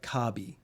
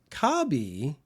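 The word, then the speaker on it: カービィ: across the top except the Japanese pronunciation of Kirby is a lot more like kabi and kabi if you were going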